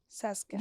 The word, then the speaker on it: Saskatchewan: Saskatchewan. You say it fast. Is that right? Saskatchewan.